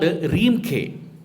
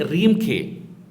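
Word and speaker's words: Reamker: In Cambodia, it is called Reemkhe. But meaning is same. Meaning is Ramakirti. But they pronounce it as a Rāmakhiyan. And in Cambodia, they say Reemkhe.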